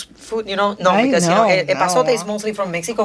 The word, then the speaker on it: epazote: Epazote. Epazote.